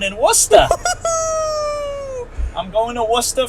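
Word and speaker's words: Worcester: wora I'm going to wora for SmackDown friends going to W that's how you pronounce it yeaha Worchester you're going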